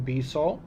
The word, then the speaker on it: Bissau: Bissau, Portuguese pronunciation Bissau, is the capital and